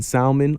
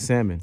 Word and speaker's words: salmon: it you're wrong it's salmon I was just verifying well you're you are wrong the L is silent very similar you're a